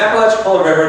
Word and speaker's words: Apalachicola: they said let me tell you how to pronounce the inaudible time the courage to be my teacher it's the Apalachicola River just outside of what is it Florence pig